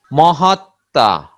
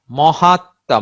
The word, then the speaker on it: মহাত্মা: যেমন যক্ষা, যক্ষা, মহাত্মা, মহাত্মা মহান আত্মা, রশ্মি, রশ্মি, বিস্ময়, বিস্ময়।